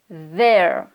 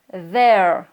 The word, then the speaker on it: there: TH dur avec lequel on a un son qui va vibrer un petit peu dans la gorge. Donc pareil, on met la langue entre les dents, comme ça. Mais on va faire un son comme ça. Donc ça va donner there, there.